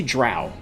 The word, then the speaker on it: drow: Malion asks me how do I pronounce the word for dark elf? Okay, so I say drow.